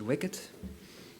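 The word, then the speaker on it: WICD: Uh it's called wicket. You have to pronounce it wicket.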